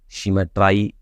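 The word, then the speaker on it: symmetry: लेकिन आई और सिमेट्री की राइम वैसे तो मैच नहीं करती है, लेकिन राइम को मैच करने के लिए इसको सिमेट्राई प्रोनाउंस करना होगा।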